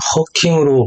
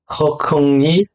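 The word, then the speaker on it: 贺铿: 먼저 한국의 언론 보도에서는 허킹으로 보도를 했지만 이는 오류인데요. 허컹이 정확한 발음입니다.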